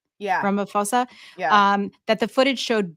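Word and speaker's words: Ramaphosa: and I am I pronouncing this right? Ramoposa. Yeah. Ramophosa.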